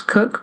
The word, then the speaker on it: Koch: um last name um pronounce cook but it's spelled the way it is and um I would